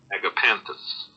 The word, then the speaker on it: Agapanthus: So, it's a type of flower and apparently this is how you pronounce it. Agapanthus.